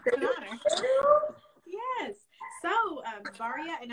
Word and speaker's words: Baraah: So, Baraah, and am I saying your name right? Baraah. Baraah.